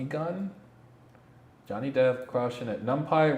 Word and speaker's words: NumPy: Numpai rhymes with lumpy.